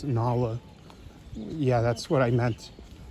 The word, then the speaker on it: Nala: just Simba and and nla in there it's pronounced Nala yeah that's what I